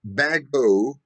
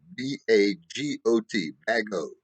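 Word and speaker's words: Bagot: those problem areas was resolved finally the rush bago agreement of 1817. let me let me spell that one b-a-g-o-t the rush dash bago agreement of 1817 limited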